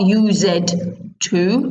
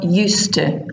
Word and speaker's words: used to: a pronunciation for you so it's not used to it's one word used to I used to live